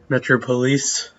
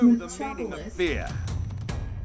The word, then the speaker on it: Metropolis: Metro Police. I mispronounced something once, and Metropolis. It's Metropolis. Watch out, Joker.